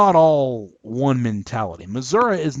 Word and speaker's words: Missouri: grow up there that this state name is pronounced Missouri not Missouri that's how the Yankees pronounce it Missouri the proper pronunciation if you grow up in